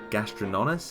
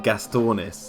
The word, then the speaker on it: Gastornis: meant to be a gastrononus. Is that how you pronounce it? I could be butchering that name. Or Gastornis, that's it.